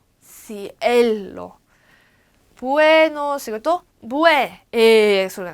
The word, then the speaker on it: cielo: 그리고 cielo I하고 E 중에 누가 강해요? E가 강하니까 cielo buenos 이것도 소리가 나.